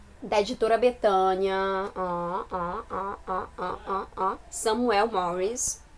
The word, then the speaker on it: Samuel Morris: é da editora Betânia Samuel morres se eu não me engano acho que é assim que se pronuncia Samuel Morris o autor é linda